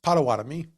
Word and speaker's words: Potawatomi: Uh lately, so I will I will I will I will correct your pronunciation in as far as uh American marketing has Mhm. suggested it's Potawatomi.